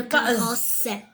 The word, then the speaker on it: carrosse: Le carrosse. Quand il y a deux S, on prononce S. Le carrosse.